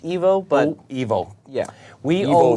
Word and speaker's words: Ivo: I believe it's pronounced Evo, but Evo.